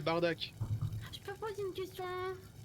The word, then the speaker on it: Bardock: Et si on veut le prononcer correctement, c'est Bardak.